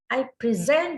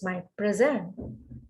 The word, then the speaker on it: present: Contohnya kata present. I present this to you. This is my present. Jadi dari tone ini, pitch-nya pada kata kerja, on the first syllable as a noun, on the last syllable.